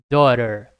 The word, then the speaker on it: daughter: Repara que tem um t. A pronúncia americana. O T geralmente vira um r. Então, door, daughter, repete aí.